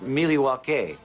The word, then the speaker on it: Milwaukee: Isn't Milwaukee an Indian name? Yes, Pete, it is. Actually, it's pronounced Milly-wah-kay. Which is Algonquin for the good land.